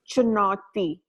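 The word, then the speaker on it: चुनौती: And Pravina, will you pronounce, how do you say that? Yeah, it's in Hindi. It's known as chunauti.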